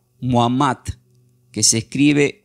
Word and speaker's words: Muhammad: Mahoma del árabe se pronuncia como Muhammad, que se escribe M-U-H-A-M-M-A-D.